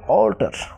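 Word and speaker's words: alter: উচ্চারণ অল্টার, অল্টার, অর্থাৎ এ এল টি ই আর, অল্টার। এর পরে কি এলটি আছে, যার কারণে এর উচ্চারণ অয়ের মতো হয়েছে।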